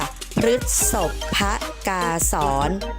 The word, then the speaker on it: พฤษภกาสร: สอน มา ตอบ ท้าย อ่าน ตาม ลักษณะ คำ ประพันธ์ อ่าน ว่า พฤษภ พกาสร ออก เสียง พระ ที่ ตัว พอ สำเภา ด้วย นะ คะ นัก เรียน ป ลอง